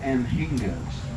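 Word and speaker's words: anhinga: about them what are they those are called emgos that's spelled a-n-h-i-n-g-a now the reason what they're holding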